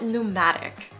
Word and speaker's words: pneumatic: Next, we have pneumatic. And yes, this is spelled pretty differently than it's pronounced, but that's American English for you.